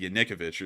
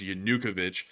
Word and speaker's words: Yanukovych: I think I said Yanukovych or something like that. It was something completely different. So then I finally learned it was Yanukovych, which is something that